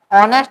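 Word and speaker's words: honest: इसमें एच क्या होता है? साइलेंट। एच पढ़ा नहीं जाता है। ऑनेस्ट पढ़ा जाता है।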